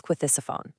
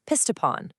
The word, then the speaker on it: Ctesiphon: A British soldier later said they couldn't even pronounce Ctesiphon. He said, "We calls it Pistopon."